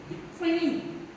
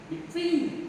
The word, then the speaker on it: between: When the word is preposition, we have to stress on the second syllable, my dear students.